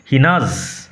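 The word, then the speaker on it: gnaws: ঘন্টার পর ঘন্টা ধরে, হিনাজ উচ্চারণ লক্ষ্য করো, জি উইল রিমেন সাইলেন্ট, জি কিন্তু সাইলেন্ট থাকবে।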